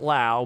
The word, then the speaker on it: Lowe: I think he pronounces it Lau, but Derek Lowe got there first with the same spelling.